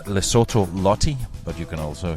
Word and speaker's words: Lesotho: so which is it well it's lesotho even though it's spelled with an o in the middle but i didn't know